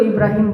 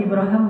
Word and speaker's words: Ibrahim: sekarang dia Ngomong Ibrahim bahasa Arab itu Ibrahim boleh ibraham boleh itu dua cara baca al-qur'an kan ada qiraat kan Ya jadi kayak bahasa Inggris Abraham itu bahasa Arab aslinya Ibrahim ibraham dua-duanya bacaan yang benar Nah ya Ibrahim kata